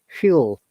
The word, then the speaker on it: fuel: hydrogen could be a useful full fuel not foil fuel remember it's fuels so this means that